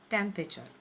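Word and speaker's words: temperature: सही प्रोनाउंसिंग है टेम्परेचर, okay. यहाँ पर जो आर है वो हमें साइलेंट रखना है, there is no need to highlight that word टेम्परेचर, इट्स टेम्परेचर, आर is silent.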